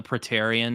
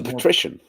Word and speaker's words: Patrician: is it petarian or is it petarian the the leader of uh ank more oh the Patrician the Patrician thank you when the Patrician and